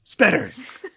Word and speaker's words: Spetters: Do yourself a favor and search for SPETTERS. Spelled like it sounds.